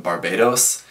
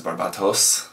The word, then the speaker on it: Barbatos: and calling it Gundam Barbados pronouncing it like the country Barbados the Japanese Katakana says barbatos so it should be pronounced as a t not as a D um just in case